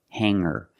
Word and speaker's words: hanger: together with the ER together hanger there's no G sound I cannot say anger